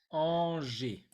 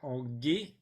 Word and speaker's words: Angers: comme haché, liné, olé, Angers. Attention là, je vois qu'on ne dit pas en gay, mais comme le G devant le E, ça fait je.